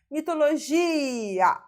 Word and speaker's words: mitologia: Mitologia. A palavra mitologia é uma paropsítona terminada com a, tá?